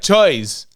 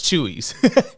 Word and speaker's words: Chewies: And I verified if that's how they pronounce it. They told me yes, Chewies. I I was just like choice. No, it's Chewies.